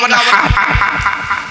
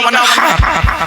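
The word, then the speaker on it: وَانْحَرْ: আমি পড়ছি দেখুন তো, ইন্না আতাইনাকাল কাউসার ফাসাল্লি লিরাব্বিকা ওয়ানহার, ফাসাল্লি লিরাব্বিকা ওয়ানহার, ওয়ানহার ওয়ানহার। এই গলার ভেতর থেকে হাইটা উচ্চারণ করবেন, হাই হচ্ছে হাই হাওয়াজ নয়।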